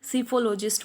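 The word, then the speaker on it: psephologist: में स्टडी करता है उसे हम सीफोलॉजिस्ट बोलते हैं। यहाँ पर पी साइलेंट रहेगा।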